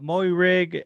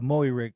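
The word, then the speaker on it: Moehrig: a barcode no no the way they pronounce his name is uh moe rigg uh but i i believe it's it's it's uh i believe it's uh maui rig yeah travon mori rig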